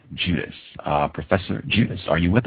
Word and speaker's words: Judice: Professor, the last name is Judice. It rhymes with Denise, Bernice, Maurice.